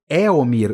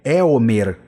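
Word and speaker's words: Éomer: Eomir. Não é Eomir. Eoden. Eomer. Eomer.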